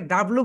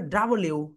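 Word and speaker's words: W: ওকে, এটাকে আমরা সবাই ভুল বলি, এটাকে ডাব্লু বলি। রাইট প্রোনাউন্সিয়েশন হবে ডাব্লিউ। সবাই বলো ডাব্লিউ, ডাব্লিউ। এইভাবে বলো ডাব্লিউ, ডাব্লিউ, ডাব্লিউ, ডাব্লিউ। আমরা ডাব্লু বলি, কিন্তু রাইট প্রোনাউন্সিয়েশন কি হবে বলতো? ডাব্লিউ, ডাব্লিউ। এক্সেলেন্ট।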